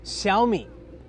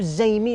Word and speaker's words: Xiaomi: way before we start Shi it's pronounced SHI I'm not going to make you learn the tones for the Chinese but don't call it zi or zami or xiaomai it's called Shi all right let's talk